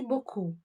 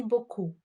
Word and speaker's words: beaucoup: Thank you very much is merci beaucoup. Merci beaucoup. The last letter P is not pronounced. Merci beaucoup.